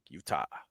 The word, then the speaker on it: Utah: just enough Spade but how'd you say that Utah Utah that's how you say it Utah say it again Utah you don't say Utah Utah yeah you don't say that youah N I said Utah